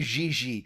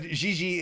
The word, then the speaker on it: Gigi: Gigi, I'm gonna do the soft G because of my French background, because I can speak French. I'm gonna do the Gigi. It sounds very French to me.